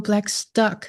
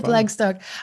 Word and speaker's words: Blackstock: Blacktock. I'm going to say it correctly this time. Blacktock.